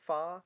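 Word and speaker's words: phở: Fa? What is it called? How do you say it? Can someone correct me? Fa. Yeah. Yeah, like fuck.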